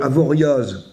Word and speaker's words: Avoriaz: comme Bruxelles on nous le dit souvent mais Avoriaz ou avoria avoria euh est-ce qu'on va à Cassis ou